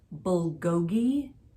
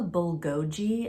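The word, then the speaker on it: 불고기: my friend's birthday and the meat is called bulgogi and I was like can I have the bul GOI and my friends were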